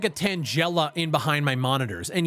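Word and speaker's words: Tangela: ] looked like a tangella in behind my monitors and yes I had to look up the prononciation for that Pokemon my entire life I've been calling it a Tanga so that's cool the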